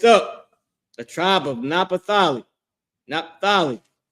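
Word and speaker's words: Naphtali: Napthali. Their name is Napathalia in Hebrew. This is the Hebrew pronunciation of their name.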